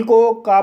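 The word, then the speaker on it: cake: सी को का पढ़ा जाएगा, ए को ए पढ़ा जाएगा, के को का पढ़ा जाएगा, ई साइलेंट रहेगा।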